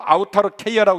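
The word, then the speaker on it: αὐτάρκεια: 이 자족이란 말을 헬라말로 아우타르케이아라고 읽는데 오늘 본문에 아우타르케이아를 썼어요.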